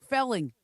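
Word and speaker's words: kvelling: Felling. Yeah. Kfelling. The K is silent.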